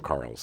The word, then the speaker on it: Charles: Well, she called him Carl's. Okay. It's the Canadian pronunciation. Oh, you're Carl's. Right. I'm sorry. Yeah, you're right. It's a silent H.